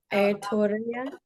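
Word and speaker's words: Aotearoa: Aladora. Alterora.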